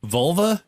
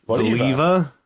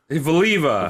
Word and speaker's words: Voliva: vola I don't trust that I'm Volver vol Volva isn't that a part of a body voliva voliva voliva you just skipped like how do you